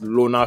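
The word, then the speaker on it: Llona: like this guy um Lona is spelled l l o n a the name of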